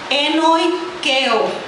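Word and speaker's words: ἐνοικέω: La palabra habitó en su contexto se pronuncia enoikeo, y su significado es un residente permanente.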